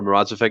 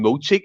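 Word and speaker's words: Moravčík: and what annoyed me, the commentator kept getting Moravcik's name wrong. Coming from me, but it just annoyed me hearing that. It was he kept calling him Mo-cheek or something like that.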